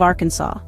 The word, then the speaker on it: Arkansas: Next up, at 25th, we have Arkansas. Believe it or not, it's illegal to mispronounce the state's name while within its borders, so make sure you say it right.